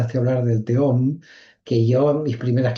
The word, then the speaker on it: Tehom: Entonces, al final resulta que uno lo termina como nombrando tejom al teom, pero al final, claro, uno ya no sabe bien cómo cómo pronunciar la palabra, pero bueno, más allá de la palabra, porque es verdad que en hebreo es teom porque es una he, pero es una he muy difusa, no es alef, es una